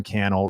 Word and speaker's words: Cannell: watch that video next my name is Cannell rhymes with YouTube channel appreciate you so much